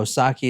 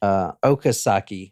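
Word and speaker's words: Okazaki: And then Dale Osaki is upstairs. And that is not how you say her name. I'm sorry. Okasaki is upstairs.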